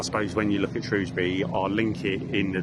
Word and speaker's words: Shrewsbury: So I know I'm in Shrewsbury. Have I pronounced that right? Yeah.